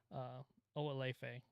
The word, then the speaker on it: Oalefe: seen in the past, but Oalefe is how you pronounce it.